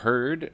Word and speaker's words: heard: a less familiar traps beware of heard a dreadful word that looks like beard and sounds like bird and dead it's said like